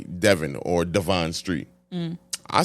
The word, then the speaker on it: Devon: I say Devon.